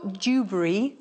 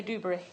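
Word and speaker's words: Dewberry: very beautiful now Joel dubber I have to really slow down to say his name um so we don't say dubery dubery yeah D Jo uh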